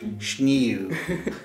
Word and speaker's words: sneeuw: It's the like E-E-U. So like you have like schnew. I just find the word for snow very funny. Snew. Snew. Snew. Snew. It's that difficult very, to, very to pronounce.